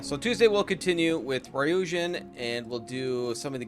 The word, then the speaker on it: Ryujin: and then we'll do some Mariah uh ryujin ryujin that's how you pronounce it uh work on this questline I'm